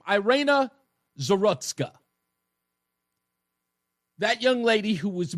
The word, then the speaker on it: Iryna Zarutska: That's how I pronounce her name. Iryna, that's her name. Iryna Zarutska.